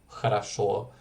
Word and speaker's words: хорошо: She told me some of the basic rules again, like the O being unstressed, turning into an A, like in хорошо, which isn't хорошо, or like the A